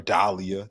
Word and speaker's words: Dahlia: Or Dahlia. That's how you say it, Dahlia.